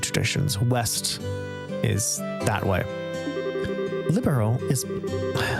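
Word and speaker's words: Liberl: Libero is liberal but libero.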